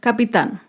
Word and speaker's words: capitán: Acá vemos otro ejemplo con la palabra capitán. Capitán es una palabra aguda. Se acentúa en la última sílaba y lleva tilde porque termina en la consonante N.